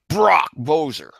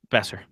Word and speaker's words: Boeser: Brock Boeser. Besser. Thank you. Brock Besser. Yeah, the O and E is the O is silent. The O is silent. It is Brock Besser.